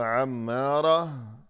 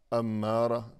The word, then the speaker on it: عمارہ: آباد رہنے والی۔ لیکن جب اس نام کا تلفظ کیا جاتا ہے تو عمارہ کہنے کی بجائے زندگی بھر اسے یوں بلاتے ہیں کہ امارہ، یعنی برائی پر اکسانے والی۔ یقیناً یہ تو بہت